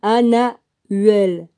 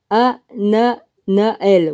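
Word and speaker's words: Hananael: Le quatorzième, Anahuel. Non, c'est pas ça, excuse-moi. Le quatorzième, Ananael. Voilà.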